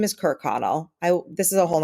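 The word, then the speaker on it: Kirkconnell: whole other podcast but that's how you pronounce her last name on google pronunciation and i read just three different links and it says kirk connell so yeah that's where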